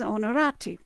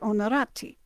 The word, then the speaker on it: Onorati: H, but understand that you just drop the H. It starts with an O. All right, so H is used really as kind of a silent letter in both languages, or in both cases.